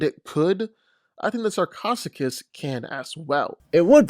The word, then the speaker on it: Sarcosuchus: that come its way even a T-Rex the sarcosicus is Americano pronunciation alert sarcasticus sarcosuchus another gigantic ancestor of the crocodile unfortunately what